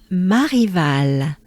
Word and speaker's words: Marival: So we have the sound A again. And right after it, we have the French R. So, the easy way to pronounce the French R is to understand it as a breath. It's mostly a breath.